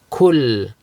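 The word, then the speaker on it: كُلْ: Qul and kul. Qul means say. Kul means eat. So if you pronounce kaf as a qaf or qaf as a kaf, you're going to change the meaning, right?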